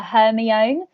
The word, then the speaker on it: Hermione: I used to call her Hermione when I didn't realise that her name's pronounced Hermione.